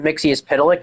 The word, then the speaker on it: Mxyptlk: Mixie's Pitilik, and by the way, that's actually how you say it.